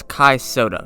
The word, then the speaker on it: Kai Sotto: It may look like a name that's hard to pronounce, but just looking at it, it looks exactly how it sounds. It's Kai Sotto. Just don't overthink it.